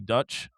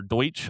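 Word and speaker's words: Deutch: It's a 2026 romcom that stars Zoe Dutch or Deutsch, I think is how you say her last name, excuse me, and Nick Robinson.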